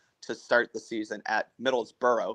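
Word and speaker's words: Middlesbrough: start the season at Middle's burrow because I refuse to use that stupid pronunciation where you don't use half the letters midd bruh um midd midd bruh yeah I'm out here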